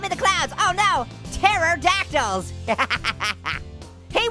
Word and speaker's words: pterodactyl: Oh no, pterodactyls. Hey, why can't you hear a pterodactyl go to the bathroom? Cause the pee is silent.